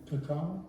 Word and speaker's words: cacao: Cacao. The cacao. How do I say? Cocoa is how we say cocoa bean, but in Spanish it's cacao.